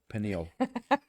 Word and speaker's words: pineal: The pineal gland. Did I say it right that time? No, pineal.